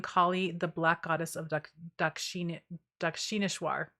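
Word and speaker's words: Dakshineswar: Harding, Kali, the black goddess of Dakshineshwar is how you say that.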